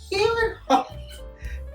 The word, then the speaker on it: Gyllenhaal: And Jack Twist, si Jake Gyllenhaal. Alam mo bang pag-pronounce talaga nun ay Gyllenhaal?